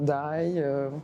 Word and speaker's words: Daï: Je suis Dailly, qui se prononce parfois Daï. Il y a toutes sortes de prononciations pour mon nom et c'est pas grave.